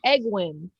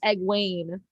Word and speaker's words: Egwene: Okay, and it's cool to know how to pronounce the names now because you read it and you're like, I always said Egwin. She said like Egwene.